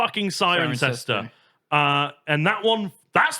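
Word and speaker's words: Cirencester: This one annoyingly is Sirencester. Oh god. But it looks like it should be, if you go by the logic of everything else, it should be Sunster or Sinster. No, it's still just Sirencester.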